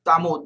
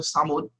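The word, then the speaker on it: Thamud: The people of Samud, the nation of Samud, here is like a Tamud, but actually it's pronunciation Samud.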